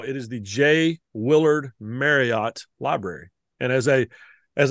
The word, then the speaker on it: Marriott: the Courtyard by and they put in parenthesis after Courtyard by parenthesis m a r y hyphen it t Drilling it into my head to pronounce this Courtyard by Marriot Marriot I I don't but